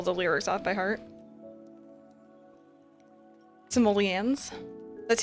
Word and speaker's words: simoleons: Simoleons? That's how you pronounce it?